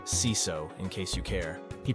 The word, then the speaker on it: CISO: One of my nicer and longer-term clients called to tell me about their new CISO, pronounced CISO in case you care.